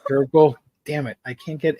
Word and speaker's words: DRCL: Pronounced Durkle. It's pronounced Durkle. Durkle.